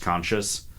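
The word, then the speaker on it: Conchis: um his name is conscious um he's a greekman it's spelled c n c i s but like obviously supposed to be pronounced conscious and is going to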